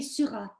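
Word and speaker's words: Syrah: i'm not good at french yeah they say surah and they spell it differently they spell it with s y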